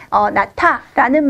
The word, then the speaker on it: 낳다: 이럴 때, 또는 나타, 이거는 나타 이렇게 발음한다고 했죠.